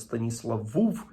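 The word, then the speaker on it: Stanisławów: польський Станіслав вовк Станіславів ну власне польською вимовляється з Станіслав вуф через У більш наближено до о яке переходить в у але європейська загальна традиція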